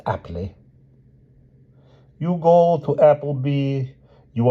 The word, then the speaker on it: Appleby: You will go to this village, Appleby, pronounced aptly.